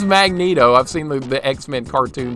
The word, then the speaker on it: Magneto: Why do people pronounce it Magneto? Why don't we say Magnete for magnet? I don't know. That's a good question. But it is Magneto.